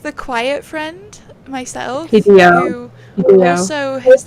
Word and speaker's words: Hideo: it'll be Hideo.